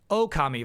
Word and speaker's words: Okami: I've learned how to pronounce it correctly. Okami vibes here.